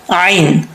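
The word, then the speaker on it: ع: यहाँ पे है आइन, आइन को हमजा नहीं पढ़ना, आइन को आइन ही पढ़ना है।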